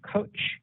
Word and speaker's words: Koch: hearing okay thank you it's koch but that's okay um okay thank you